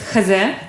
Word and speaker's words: X3: Yeah, maybe I can say some words to the pronunciation is khaze in Russian, which is basically this is two letters, h is z, h and z. It's like in German it reads X3, but in Russian it would be like heze.